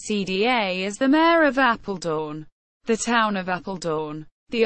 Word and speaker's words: Apeldoorn: Apeldoorn, Dutch pronunciation, Apeldoorn, is a municipality and city in the province of Gelderland in the center of the Netherlands.